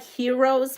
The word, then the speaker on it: HIEROES: Hi, it's like heroes, but it's spelled HIEROES.